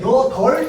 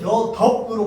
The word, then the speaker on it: 여덟: 우리는 리을 비읍 중에서 둘 다 발음할 수 있어? 없어. 하나만 발음해야 돼. 그러면 여덜 또는 여덥으로 발음해야 돼. 얘를 여덥이라고 얘기하는 사람 있어? 없어. 자, 그러니까 리을 비읍의 원칙은 무슨 발음이라고? 원칙은 리을 발음입니다.